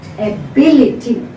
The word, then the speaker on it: ability: So you have to stress B, ability.